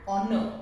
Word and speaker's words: honor: Similarly, an honor starts with H but has the sound of O or.